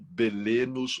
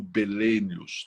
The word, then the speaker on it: Belenos: representação desse Deus solar Bel ou belenos ou belenos né tem pronúncias diferentes então a gente falou